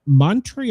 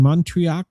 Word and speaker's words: Montreux: Yeah, they were recording the Montreux, am I pronouncing that wrong? Montreux Casino in Switzerland burns to the ground during a set by Frank Zappa.